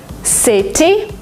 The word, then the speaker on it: city: In American English, if you have a letter T in the middle of a word, sometimes you pronounce it as D. Letter, letter. Letter? Because it's faster, because it's smoother. City, you don't say it.